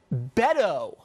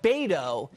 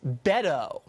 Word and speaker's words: Beto O'Rourke: wrong from the jump it's Beto O'Rourke not bado it's Beto did you even know